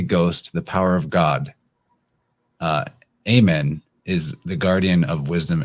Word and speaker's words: Amun: A-M-U-N, or Amen, that's how you say it.